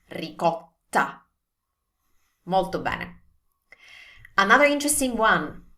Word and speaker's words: ricotta: And I know for sure that this is often pronounced as ricotta. That's very English, but not Italian. So again, T sound, not D sound. T, T, and also double T.